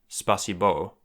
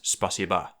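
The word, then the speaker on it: спасибо: Which is why it's not spasibo, despite the fact that it's spelt that way, it's spasiba.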